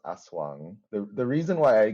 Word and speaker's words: Aswang: So I'm like it's probably not Wang as in like European way of reading that. So yeah. Yeah. Um it's it's yeah it's it's pronounced yeah it's pronounced aswang.